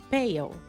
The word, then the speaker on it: pale: Olha a diferença de pronúncia. Bale, bale, bale, pale. Percebam que não é tão fácil de perceber, mas tem uma diferencinha de pronúncia entre eles.